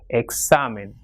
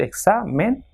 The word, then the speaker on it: examen: Same, following the same rule, it is comida and examen. So it has got 2 syllables, examen. So the second last will be stressed, that is exa. So examen.